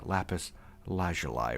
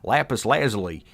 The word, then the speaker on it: lapis lazuli: For some reason, it just feels awkward to say lapis lazuli, you know, but like that's the way it is pronounced for the most part, not lapis lazuli.